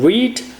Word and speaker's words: read: é um verbo irregular, o presente é read, o passado e o particípio são iguais, se escreve da mesma maneira, mas soa diferente. Então eu falo read, read, read.